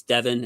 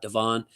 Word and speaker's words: Devon: I Remember by the way it's Devin and nut Devon uh listen to Highlights